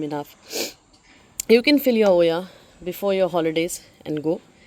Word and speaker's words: olla: l a watering system Ola but it's pronounced as Oya so yeah if you